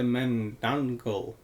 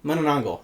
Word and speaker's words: manananggal: The menangul. Can I read it? Yeah, that that is exactly how it's spelled. The manangle. Manangongal.